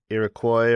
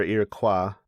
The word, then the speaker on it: Iroquois: Actually, in the Wikipedia entry, it's pronounced either way, Iroquois or Iroquois.